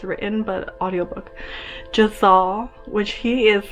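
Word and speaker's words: Jezal: We also have I'm gonna mispronounce his name, Jazal. It kind of sounds like Giselle, but it's Jazal. I wish I could see how it's written, but audiobook. Jazal, which he is like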